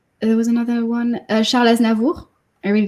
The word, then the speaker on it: Aznavour: Sorry, can you pronounce his name in French again? Aznavour. Aznavour.